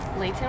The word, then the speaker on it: Layton: And May, we actually grew up in the same like hometown in Layton, sorry. Layton with a T. Layton with a T. I don't pronounce my T's.